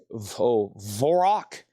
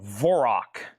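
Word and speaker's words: Dvořák: The next one here was Vorok. I think the D is silent. I think it's called Vorok. I think that's what this is here.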